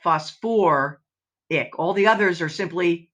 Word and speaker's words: phosphoric: would become sulfic but with sulfur and phosphorus they decided that it must sound better if we actually use two syllables so it's sulfate but sulfur ick phosphate but phosphor ic all the others are